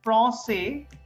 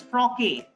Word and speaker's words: français: There is no sign here. Below C, there is nothing. So then I should have pronounced it as froque, because ka sound, froque. So just to make sure that we don't make the mistake, so they put this sign, froque.